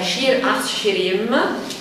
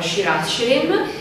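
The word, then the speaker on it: שיר השירים: diamo la locuzione ebraica Shir Ashirim, bisogna pronunciarla in maniera forse più gutturale, più forte, ma non sono capace.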